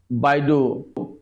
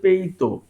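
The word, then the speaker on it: BeiDou: এটবি radar system তারপরে বাইডু navigation system আসলে বাইডু এইটার চিনা উচ্চারণ হচ্ছে পেইতো ইংরেজিতে বি আই ডি ও ইউ এটা লেখে কিন্তু এটার উচ্চারণ হচ্ছে পেইতো পেত আমি কিভাবে জানলাম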